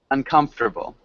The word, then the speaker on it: uncomfortable: Uncomfortable. Uncomfortable. Yeah, Good. uncomfortable. We don't want to pronounce that. Fort. No fort.